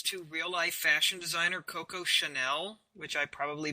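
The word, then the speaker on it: Coco Chanel: actually a reference to real life fashion designer Koko Chanel which I probably butchered the hell out of that name no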